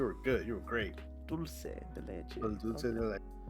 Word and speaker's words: dulce de leche: Yeah, basically that C is pronounced like an S. Oh, you know what? Yeah, you're right. Yeah. And U, pronounce it more like a light U versus an and you're fine. So Dulce. Dulce. And it's a U, not an O.